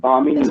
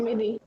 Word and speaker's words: Bhamini: Am I pronouncing your name properly? Is it okay? Is it It's Bhamini, right? Bhamini. Bhamini.